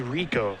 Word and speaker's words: Rekow: that is rico his house last name is pronounced like rico suave i said like rico